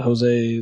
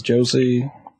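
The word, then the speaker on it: José: Because it's spelled with a J, it's supposed to be H. It depends on what nationality it's supposed to be, Rob. Yeah, I have a terrible time with that. I had a guy named Jose that I pronounced as Josie, and nobody else was there to tell me.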